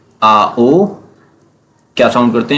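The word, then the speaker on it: auch: ए यू सी एच। ये क्या होगा? आओ। इट्स प्रोनाउंस आओ।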